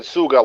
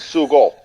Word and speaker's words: sugo: said it wrong again no you said it wrong because you said suga like suck it's sugo there you go that